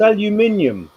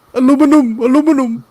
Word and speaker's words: aluminium: you pronounce ellen no it's aluminium come on get it right aluminium aluminum that's their problem